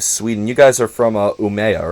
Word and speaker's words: Umeå: But for your area of Sweden, you guys are from Umeå, right? If I pronounce that right.